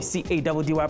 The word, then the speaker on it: Caddy: Your boy, C-A-D-D-Y pronounced Caddy, is cashing out.